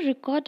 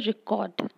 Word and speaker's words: record: For example, we are going to record a record. The two similar words are stressed differently so that the first record is stressed on the second syllable.